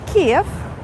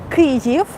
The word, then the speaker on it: Kyiv: than this for example kiev kriegev this is how you pronounce it correctly is more than 1